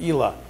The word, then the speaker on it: Ila: What's the pronunciation of this? Just say coal, like lump of coal, and Isla.